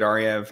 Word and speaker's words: Ariew: That's with two V's in a row, which, yeah, my name is weird. It's spelled with a W. It's pronounced as a V. Doesn't make any sense.